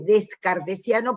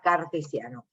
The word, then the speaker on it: cartesiano: No se dice descartesiano porque en realidad Descartes se llamaba Cartesius en latín, entonces por eso se llama cartesiano.